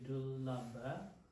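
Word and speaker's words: dullabha puggala: I think it's my pronounce again. This is writing it. wrong. This should be dula pala.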